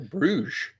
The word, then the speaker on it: Bruges: I've apparently been pronouncing that city in Belgium wrong. It's apparently Bruges.